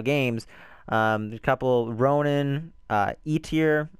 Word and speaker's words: Eitr: There's a couple, Ronin, E-Tier, I think that's how you say it. It's EITR.